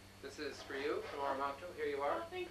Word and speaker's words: Oromocto: Now, the correct pronunciation is Oromocto. Oromocto.